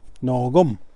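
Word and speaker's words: nôhkom: word is no gum no gum you'll notice that the K in your book it sounds like I almost like a soft G no gum that means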